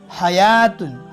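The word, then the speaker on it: حياة: इसी तरह ज़कातुन, हयातुन, हयातिन, तो देखो वाव नहीं पढ़ा गया।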